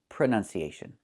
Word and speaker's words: pronunciation: The word is pronounced pronunciation. We see the letter U there between the N's, right? That's a short sound like cup and up. Pronun, pronun. So the two first vowels are the same sound.